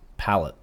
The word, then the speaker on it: Palit: I spoke to Steve on how to pronounce this. He said it was Palit. Like that's how I always pronounced it. I like Palit. But wouldn't there be Palae?